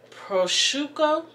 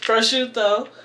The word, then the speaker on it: prosciutto: my meat i have prosuka prosciutto prosciutto that's how you say it prosciutto and i got some